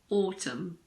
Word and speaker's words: autumn: pronounce n if it comes after M at the end of a word for example Autumn it's not autum it's just Autumn column condemn damn him